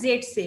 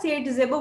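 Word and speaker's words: Zaitsev: না, এই যে প্যাটার্নটা এটা ফার্স্ট অবজার্ভ করেছিলেন রুশিয়ান কেমিস্ট আলেকজান্ডার জেডসেভ বা সেডজেভও বলতে পারো, দুটো ভাবে উচ্চারণ করা যায়, যিনি 1875-এ 75 খ্রিস্টাব্দে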